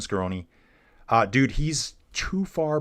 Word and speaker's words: Scaroni: So, Justin Case is asking, could Skonei, Christian uh Christian Scaroni, why am I got that name wrong? Yeah, Christian Scaroni.